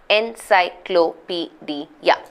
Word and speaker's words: encyclopedia: 1, 2, 3, 4, 5, 6 syllable word this is. Encyclopedia, right?